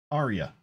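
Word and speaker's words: Eeria: Aria. Okay. I saw the E-E-E-E-E, so I was wondering, should I be pronouncing every I? Aria.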